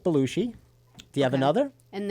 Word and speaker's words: Belushi: How do you say his name? Belushi. Belushi. I like the way you say it, Belushi. Belushi. Like the whale.